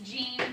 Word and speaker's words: Gene: Miss Jean, that's spelled G-E-N-E, but I'm named after my great aunt Jean, but hers was spelled J-E-A-N, but it's a little bit different.